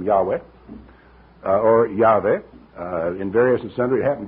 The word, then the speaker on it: Yahweh: V or the W because the ancient pronunciation was W the modern pronunciation later Hebrew came along with a a V type of pronunciation on that type of construction but in any case the ancient most ancient usage was as far as I know Yahweh or yahwah or something like that but other people will